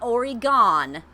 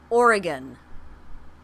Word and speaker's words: Oregon: spelled Oh are gon it's not already gone it didn't go anywhere it's not gon ye it's Oregon that's it I got some